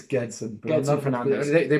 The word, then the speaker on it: Gedson: But for the hard G, it's a G.